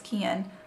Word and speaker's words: Kian: Ricardo or delirious and Keon or Kian I always want to say Keon but it's Kian Lawley sorry if I butchered